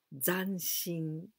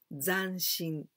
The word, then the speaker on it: zanshin: kárate de todos los éxitos la palabra es dancing dancing la pronunciación hay que cuidar porque si sabes que ir a ganar esto esa prosa contenten pronunciada ya sanz sin dancing esa zeta no se saca lengua tan sino